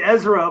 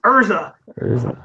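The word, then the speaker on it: Erza: Lucy and gray and I always say IRS's name wrong I always want to say Ezra but it's Ursa like they're just so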